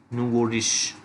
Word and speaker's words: nouveau riche: I have written the pronunciation over here, nouveau riche.